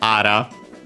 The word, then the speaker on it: ara: Worth mentioning that there's also ara, used also with the same kanji. Ara, accent on the last mora, technically.